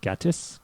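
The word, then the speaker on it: Gatiss: and this was one of them so mark gaddis uh i hope i'm pronouncing that right gattus yes marcus uh he the writer of this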